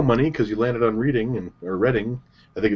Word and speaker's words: Reading: It's like, you've come around, I'll just take your go money because you landed on Reading or Reading. I think it's supposed to be pronounced Reading, but there you go.